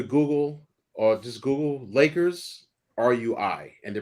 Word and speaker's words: Rui: the first time again rui rui no you're not saying rui are you saying it ruin almost like Louie except R right yeah like the